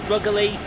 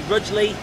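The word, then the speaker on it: Rugeley: shrewsbury suresbury as um got rougely some people say lovely some people say ruggerly some people say rudely what's another one that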